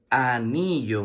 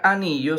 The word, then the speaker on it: anillo: La palabra anillo se escribe con A, que como está sola se pronuncia a sí mismo A. La N con la I suena ni y la doble L con la O suena yo.